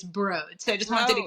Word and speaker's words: Broad: And it's actually broad institute. So it's spelled broad, but it's broad.